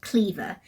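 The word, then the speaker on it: Kliewer: And he said it's a very German last name because you say it Cleaver, like the W is a V.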